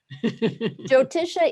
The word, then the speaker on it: Jyotisha: How do I pronounce Jyotisha? Jyotisha is the Sanskrit word for Vedic astrology, and I often have a problem with the word astrology.